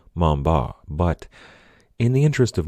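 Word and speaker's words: Montbars: his name that way he was French after all his last name was pronounced something a little closer to Mamba but in the interest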